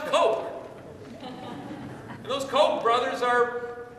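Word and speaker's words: Koch: people better and better their last name's actually pronounced Coke and those Coke brothers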